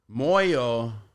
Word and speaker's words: Moyo: all right she's like your last name sounds a lot like the word moo I'm like that's exactly how you pronounce it and means heart and